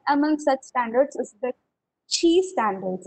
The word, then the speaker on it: Qi: such standards is the chi standards it is written Qi but it is spelled CH and this is a Chinese word which means uh the